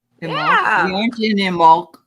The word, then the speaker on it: Imbolc: uh IM I want to say it right imul we aren't in imul right now that but we wanted to make